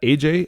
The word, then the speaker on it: Asia: Is that AJ? Aja? How do you say that? Would you like to introduce yourself and a topic? Hi, my name is Asia, like the continent.